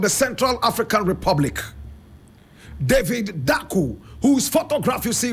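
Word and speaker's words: Dacko: first president of the Central African Republic David daku whose photograph you see right here David D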